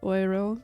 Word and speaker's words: Euro: one hour of play I almost called it oiro because I think that's how you pronounce it in German and that's my like